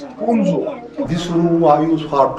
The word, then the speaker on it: Hunza: Hunza's actual accent, actual pronunciation, original name is Hunzo.